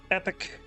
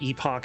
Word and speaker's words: epoch: fine with the Linux epic time or epoch if you want to use that pronunciation.